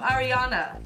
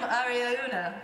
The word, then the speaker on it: Ariauna: Dear Corinne, I'm Ariana. Oh, we're saying all these names wrong. Ariana. Yeah. I'm Ariana. Ariauna. Ariuna. I am Ariauna.